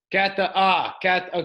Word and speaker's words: Catalin: Cataline. Okay, cool. I like because I saw the accent thing on top, and I was like, how do I?